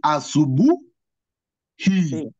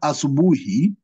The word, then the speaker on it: asubuhi: So when you're to pronounce this word asubuhi, you'll pronounce I as E as you'll pronounce in the word ink. You'll not pronounce it as I.